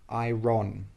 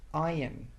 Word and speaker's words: iron: This word is not ai ron. No. It's pronounced iron.